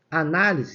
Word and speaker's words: análise: Ó, análise, se você for separar a sílaba, análise. Essa daqui, ó, o na, é que a sílaba tônica está acentuada, tá vendo?